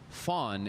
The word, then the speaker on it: van: And so you learn that a van in Dutch is different than a van, which is actually pronounced fawn in South Africa.